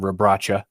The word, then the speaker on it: Rabracha: of him today and i heard multiple announcers calling him rabracha so i think that's the phonetic way to pronounce it or the correct way to pronounce it rather he's is a six